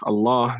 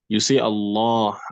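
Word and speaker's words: الله: We mentioned earlier on that Allah, the lam that is in this word, is sometimes pronounced heavily, la, la, la, and sometimes pronounced lightly, la, la, la.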